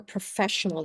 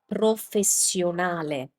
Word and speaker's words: professionale: The word for professional in Italian, which is correctly pronounced as professionale in Italian. Professionale. Now, this is another common mistake for English native speakers, because when you have two S's in English, you often pronounce them as sh, so professional. But in Italian, that doesn't happen. As I always explain, when you have a double consonant sound, the sound of the consonant stays the same, you just keep it for longer.